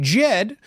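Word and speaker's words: Djed: as Ada back stablecoin Jed the D is silent in case you didn't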